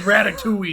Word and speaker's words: ratatouille: There's 2 L's and an E in Ratatouille, and you don't pronounce them.